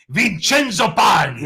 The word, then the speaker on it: Vincenzo: vincenzo paglia joe joe joe say it like an italian vincenzo there we go my wife says